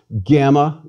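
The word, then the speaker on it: γάμμα: a bit more familiar gamma is always pronounced hard gu as in girl never j as in gymnasium please repeat gamma g delta delta is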